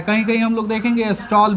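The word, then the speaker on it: Stahl: यह लिखता है कहीं कहीं हम लोग देखेंगे स्टॉल भी लिख दिया होता है क्या लिख दिया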